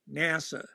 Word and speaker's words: NASA: pronounce the letters okay it's always NASA right so there it's